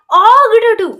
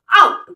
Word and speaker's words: ought to: टू ये नहीं था ऑग टू ये ऐसा नहीं होता बल्कि इसकी प्रोनाउंसिएशन होती है आउट टू क्या आउट ओके सो